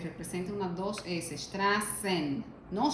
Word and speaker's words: Straßen: Recordemos de inmediato este símbolo, que no es una B, sino que esto es una doble S. Esto es una doble S, representa una 2S. Straßen, no Straben, sino Straßen.